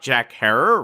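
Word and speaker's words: Herer: our recent episode about jack herrer rhymes with terror terror today we are telling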